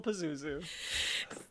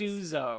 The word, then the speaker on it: Pastuzo: So yes, Uncle Pazuzu. Is it Pazuzu? Or how do you say it? Because I can't... Pastuzo. Pastuzo.